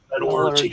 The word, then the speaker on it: Metallurgy: Metallurgy. Am I pronouncing it right? Metallurgy. Metallurgy. Yep. Metallurgy.